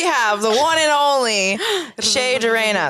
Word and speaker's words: Che Durena: We have the one and only Che Durena. Did I say it right? Che, like a hard Che. C. Yeah, Che. yeah, there you go. Che Durena.